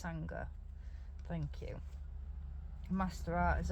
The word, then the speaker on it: Sangha: about that word Sangha to me it says Sangha but no no it's Sangha thank you Master art